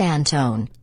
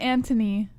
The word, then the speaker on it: Antone: It's pronounced Antone. Antone. Points most for JBH saying my name wrong. Sorry. Yeah, how are you saying it, Jesse? I said Anthony.